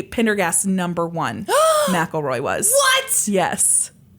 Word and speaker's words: Pendergast: it was huge well Tom Pendergrass yeah I totally mispronounced that last name he was believed to be Pendergast number one mroy was